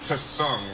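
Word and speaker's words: Tseng: It is pronounced Tsung, nor is it. By the way, the T is silent.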